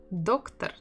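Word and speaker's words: доктор: as in English doctor doctor again we have double o and where is the stress doctor doctor doctor on the first syllable that's where the first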